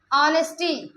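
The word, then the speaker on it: honesty: Next example देखिए, ऑनेस्टी, हमने अभी बताया, एच को हाँ नहीं पढ़ना, लिखेंगे लेकिन पढ़ना नहीं, प्रोनाउंसिएट नहीं करेंगे।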